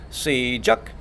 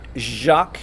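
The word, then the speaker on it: 시작: Jack start to run so it's C Chuck okay it's not Jacques like a French French Jack Jacques it's Chuck with a just a plain old J like and jumping jack see Chuck okay the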